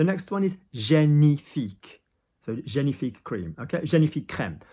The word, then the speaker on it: génifique: So G, ni, where does the I vibration go? Between the eyebrows. I between the eyes. Génifique, génifique. Now, if you read that in English there, you know, génifique cream, you're not going to get that one wrong.